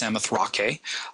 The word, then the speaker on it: Samothrace: This Nike of Samothrace, and you might hear it pronounced Samothrake, and it's not Nike,